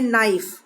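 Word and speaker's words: knife: इसको हम पढ़ते हैं नाइफ.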